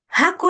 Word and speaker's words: haku: Haku es como tiene un sonido como la J, ¿ya? Como la J. Suena como la J. Ya. Listo. Suena como J.